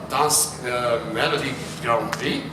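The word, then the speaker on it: Dansk Melodi Grand Prix: So you won Dance Melody Grand Prix.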